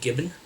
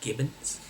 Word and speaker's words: Gibbons: So if you're a fan of Dave Gibbon, I think that's how you pronounce his name, Gibbons, then you might want to check out this book because it contained his first work for Marvel.